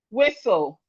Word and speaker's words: whistle: We have whistle. Whistle. Whistle. The T is here. The T here is also silent.